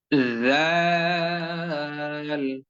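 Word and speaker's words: ذ: যায় ততটুকু পরিমাণ সময় জিহ্বার আগাকে সামনের উপরের দুই দাঁতের আগার সঙ্গে যুক্ত রেখে এই উচ্চারণটা করতে হবে জাল জাল জাল জাল জাল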